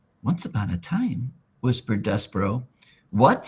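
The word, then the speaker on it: Despereaux: And in French, the last S X is silent. So, his name is Despero.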